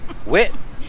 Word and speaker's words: wit: Wit means it's with onions, and then whiz is the cheese. So wit whiz. You got to say it right.